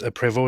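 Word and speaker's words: Prevost: No, it's PvO is the is the real is the real way, but I I doubt that people in uh in the English speaking world actually pronounce it that way.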